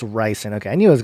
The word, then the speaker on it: ricin: Oh, it's ricin.